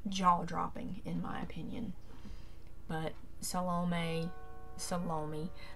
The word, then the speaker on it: Salome: But Salome, that's how my grandma calls it. She had an aunt named Aunt Lomi, so that's how they pronounce this, Salome.